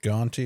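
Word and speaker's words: Guante: Ganty is spelled G U A N T E.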